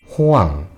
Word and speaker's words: Hoàng: H can be pronounced and written as Hiet, and O can be pronounced as O, and A can be pronounced as A. Finally, NG is pronounced as O. After all, it can be pronounced as Hoang.